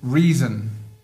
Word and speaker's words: reason: Le O de Reason, il est pas prononcé comme reason, pas du tout. où il est prononcé comme un choix, un e atténué.